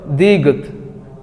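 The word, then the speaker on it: 디귿: এটাকে কোরিয়ানরা বলে হচ্ছে হলো দিগত দিগত দিগত এটার মূল উচ্চারণ হবে দ তারপর আমরা স্ক্রিনে যেটা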